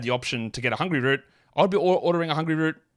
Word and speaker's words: Hungryroot: Now, they've given me a pronunciation guide here to make sure I don't say Hungryroot. Just call it one word, Hungryroot.